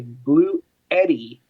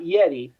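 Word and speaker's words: Bluetti: hit it Max Max Oak uh makes a blue Eddie not Yeti Eddie that's how it's pronounced that's what I've been told um this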